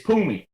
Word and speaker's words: Pumulo: I don't know how to say her name, but it's Pumi. It's on here is Pumulo, but you pronounce it Pumi.